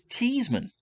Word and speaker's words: Theismann: wasn't his given name it wasn't Theismann it was teased Minh the8 well no the spelt correctly but that's pronounced t's Minh and not Theismann and so I believe it was from the 1970 season the clever people in the Notre Dame athletic department said you know Joe if we change your last names pronouncing a Shinto Theismann it happens to rhyme with Heisman and maybe that's a